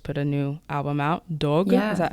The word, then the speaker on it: Dogue: album, you just put a new album out, Dogue. Is that how I pronounce it?